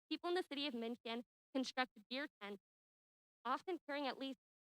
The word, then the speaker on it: München: They invited their royal subjects to attend these festivities in the city where they got married, München, or as we Americans pronounce it, Munich.